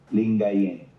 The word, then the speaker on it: Lingayen: How do you pronounce that, Michael, or Shay? The Archbishop of what? Lingayen Dagupan. Lingayen.